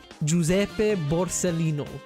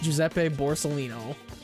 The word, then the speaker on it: Giuseppe Borsellino: Giuseppe Borsellino. That's how you say it in Italian. In English, it's Giuseppe Borsellino.